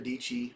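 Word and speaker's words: Dietschy: a YouTube YouTube creator Sarah dici rhymes with peachy I think her knee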